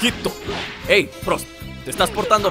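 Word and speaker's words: ヒット: Le estoy diciendo mi hijito porque así se pronuncia su nombre en japonés. Hito.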